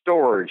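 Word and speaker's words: Storj: I think this is spelled, sounds like storage.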